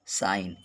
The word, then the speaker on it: sign: अगला देखेंगे, यन से पहले जी साइलेंट रहता है। अगर यन से पहले जी है तो साइलेंट होता है। जैसे देखें, डिजाइन, DESIGN। दूसरा एग्जाम्पल है साइन, SIGN।